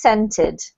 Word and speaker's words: scented: This one here, although it has a C, this sound is just an S sound, so it's scented.